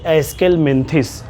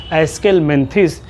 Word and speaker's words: Aschelminthes: About the next phylum that is called as एस्केलमेंथिस. पढ़ने का भी प्रोनाउंसिएशन ध्यान रखना है बच्चों. अभी आपका नया मामला है, दुश्वारी आएगी, नई टर्मिनोलॉजी का सामना होगा, तो ध्यान रखना है. एस्केलमेंथिस या इसी का दूसरा नाम है दैट इज़